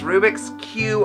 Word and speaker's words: Rubix Q: right yes it is Rubik's Cube a lot of people hear confusing say cube and it's like no it's a play on words the Q is for Queen yes that's